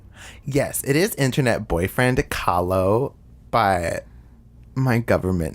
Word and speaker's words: Kahlo: the South, so like everyone pronounced Kahlo as Kalo. And I was like really annoyed. I was like, please don't butcher that name any fucking more.